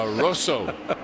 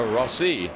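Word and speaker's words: Rosso: M Toro Roso okay a Roso not a rosi a Roso Casey Mir is right now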